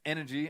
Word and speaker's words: NRG: energy in G win it's pronounced energy apparently but NRG is the spelling of the team don't worry too much